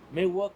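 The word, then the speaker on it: Miwok: And on the southern side, MIW OK, MIW UK, it's to each his own. But centrally recognizing us, Me-Wok, MEW UK is how we say it.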